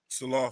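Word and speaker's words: Saleh: I I always pronounce it incorrectly. Twan, help me with it. Salah.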